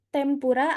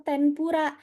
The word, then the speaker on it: tempura: Kan ada huruf yang benar itu tempura atau tenpura. Minasang, waktu pelajaran hiragana saya sudah bahas. Kalau semisal di depannya ketemu huruf P, berarti dia dibacanya M. Ya, nah, berarti dia dibacanya M.